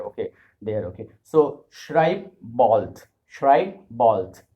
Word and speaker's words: bald: Write bald. Bald means soon. In English we have bald. Bald means someone who doesn't have hair. Okay. There. Okay. So schreib bald. Schreib bald. D will be pronounced as T, and I have heard